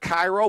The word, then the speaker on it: Cairo: Now 2-1, and that slider from Cairo, Nebraska. Spelled like Cairo, but I'm almost positive they pronounce it Cairo there.